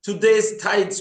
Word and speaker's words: Today's Tides: channel, which is called Today's Tide. Am I pronouncing it correctly? Yes, it is Today's Tides program.